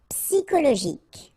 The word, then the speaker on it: psychologique: And then Y is pronounced like I, psi, and then it's an exception here because normally we should pronounce it sho, okay, but then we pronounce it ko.